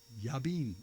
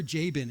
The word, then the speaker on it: Jabin: Yabin or Jabin if you're English.